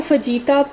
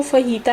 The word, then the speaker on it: fajita: आज मैं बना रही हूँ फ़हीता पिज़्ज़ा। बहुत से लोग इसको फ़जीता प्रोनाउंस करते हैं, लेकिन इसकी जो राइट प्रोनाउंसिएशन है वो फ़हीता है।